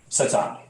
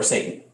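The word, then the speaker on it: שָׂטָן: But that Hebrew word right there for adversary is pronounced Satan or Satan.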